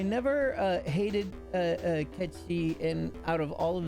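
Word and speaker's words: Cait Sith: It's pronounced Kchi, by the way. Nobody believes me. And in the new one in English, they decided to stick with Kate Sith, and I'm angry about it, but that's okay.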